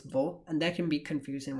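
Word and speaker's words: वह: pronounced as ye, and vaha and ve are still both pronounced as vo, and that can be confusing when I'm talking about them.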